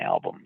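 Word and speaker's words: Albom: And my last name is spelled A L B O M. But when you say it together, it sounds like Dylan album.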